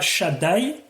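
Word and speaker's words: שַׁדַּי: Rashi, Anikel Shakai, donc je vais le prononcer une fois, Shaddai.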